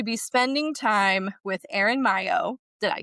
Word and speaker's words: Maillo: spending time with Aaron Mayo. Did I say it right? I got you nervous. Mayo, thank you. It's like Mario but not but like the same love and affection if you know what I mean.